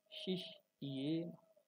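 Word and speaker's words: শিষ্যেণ: তব শিষ্যেন, শিষ, খেয়াল করুন এই শব্দটা একটু, যেহেতু জফলা আছে এখানে মধ্যম সাথে কি হবে, শিষ্যেন, শিষ্যেন ধীমতা।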